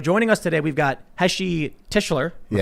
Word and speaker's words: Heshy Tischler: So joining us today, we've got Heshy Tischler. Yes.